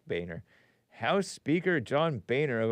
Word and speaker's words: Boehner: And it's spelled like it shouldn't be pronounced Boehner, but it is pronounced Boehner.